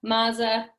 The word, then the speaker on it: Mazza: right your last name you can say Naza maza there's debate about the a how its supposed to be pronounced excellent we'll just roll